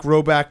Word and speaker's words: Rhoback: Roback question.